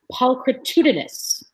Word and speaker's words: pulchritudinous: It feels, and if you cannot pronounce this, I will help you. It is pulchritudinous.